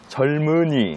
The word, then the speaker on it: 젊은이: 일일까요려 아 빨리 알려주세요 리을 미음 받침 다음에 이응이 오게 되면요 그러면 이제 리을로 발음을 하시고 미음이 이응 쪽으로 가게 돼요네 발음 기호로 한번 보실까요